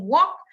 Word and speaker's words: walk: that's not correct and walk has a l sound silent l it's not world